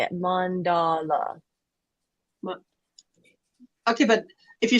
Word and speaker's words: Mandela: you accenting all three which one do you put the accent on mandala Mandela is how they say it if you go to Google and type in how do you say it it says Mandela Mandela okay Bailey says